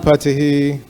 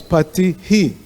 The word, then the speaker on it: patiḥ: And the visarga, the H with the dot under it, is he. Otherwise, if you just pronounce it pati, you don't need that H, and you just say pati, P-A-T-I. But when you see the H with the dot, it's patiḥ.